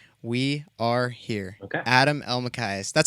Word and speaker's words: Elmakias: Adam Elmakias.